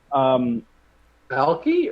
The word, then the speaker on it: algae: Algae or algae? Algae. No, ALGUES. Yeah, one of the letters is silent there, buddy. It's algae.